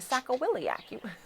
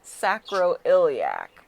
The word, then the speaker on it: sacroiliac: body too for your sacko william it's it's actually pronounced sacroiliac but i like sacco